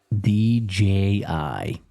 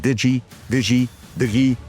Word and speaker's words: DJI: DJI, it's a company called DJI. Some call it Digi Vi, all these other ways they pronounce it.